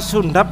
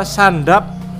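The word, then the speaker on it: Zündapp: Itu bacanya sundap apa sandap? Kalau orang Jawa ya sundap. Oh, sundap. Kalau Indonesia sandap itu.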